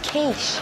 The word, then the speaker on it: quiche: any chance of a quick it let's turn uh danny i think it's pronounced quiche i haven't felt this angry